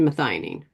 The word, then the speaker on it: methionine: Gets back to methyl homocysteine, back to methionine.